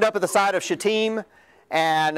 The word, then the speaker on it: Shittim: which, by the way, that's a helpful pronunciation to learn if you ever teach Sunday school. It's Shittim. It's not the alternative that it looks like. Okay? Shittim, very helpful.